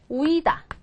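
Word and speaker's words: huida: 예를 들어서 이런 거요 우이다 이게 도망 탈주 뭐 이런 뜻인데 모음이 뒤에서 두 번째 오고 양모음 양모음 두 개니까 어디를 강하게 얘를 다 이렇게 읽으셔야 된다는 거죠 자 그래서 보세요 센터의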